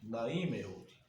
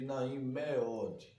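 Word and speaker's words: נעים מאוד: Professor, por que o senhor está pronunciando Naim Meud em vez de Naim Meod? Porque geralmente o Roland pode ser O, só que O, tá certo? É mais aceitável pelos tradutores, ok?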